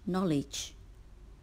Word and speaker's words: knowledge: to make the word knowledge the letter K is silent sound word number 16